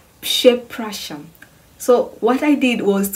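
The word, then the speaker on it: Przepraszam: So then I could hear now how the word is pronounced is Pshepracham.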